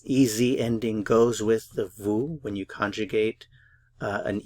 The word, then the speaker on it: vous: use the formal U and that is vu vu Vu notice I'm not pronouncing the consonant at the end the pronunciation is simply vu vu vu so U formal